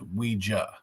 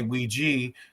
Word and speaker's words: Ouija: It's a common question I get, and the brand itself is pronounced Ouija. But you're not wrong if you say Ouija, because if you ask someone if they use the board, you would ask them if they Ouija.